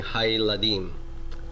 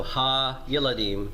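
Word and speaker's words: הַיְלָדִים: In these situations, by the way, what will happen is that the vocal shava will end up being pronounced like a silent shava. So it ends up becoming hayladim. So ha yiladim becomes hayladim.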